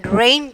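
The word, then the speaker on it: reign: And then rain, G silent letter.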